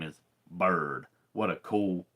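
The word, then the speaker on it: Byrd: quarterback whose name is Bird, and I don't mean last name, I mean first name. His name is Bird Ficklin, and Bird is spelled B-Y-R-D.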